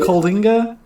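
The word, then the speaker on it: Coalinga: calling a calling site hey it's not spelled like is it spelled like a coal c-o-a-l no it's c-o-l-i-n-g-a yeah that's not the same c-o-a-l-i-n it is it's literally kalinga calling a yeah station a what's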